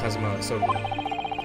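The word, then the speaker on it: Kazuma Asogi: It's pronounced Kazuma Sogi.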